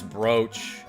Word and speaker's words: brooch: The word is brooch. But why is it spelled like that?